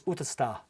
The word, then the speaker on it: Otterstad: We were in Norway and I asked a woman in Norway, a Norwegian, how to pronounce his name properly. And I believe it's Otterstad. Added percussion.